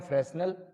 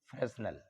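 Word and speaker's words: Fresnel: Diffraction के 2 type रहेंगे, पहला आएगा जिसे बोलेंगे हम फ्रेस्नेल, पहले वाले को बोलेंगे फ्रेस्नेल, फ्रेस्नेल डिफ्रैक्शन। एच नहीं है शायद इनकी स्पेलिंग में, है ना, इनकी स्पेलिंग में एच नहीं है, वो आप देख लेना।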